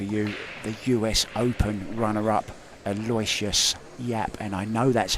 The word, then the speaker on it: Aloysius Yap: Don't forget, coming up very, very soon, 1:30, we will have for you the US Open runner-up, Aloysius Yap.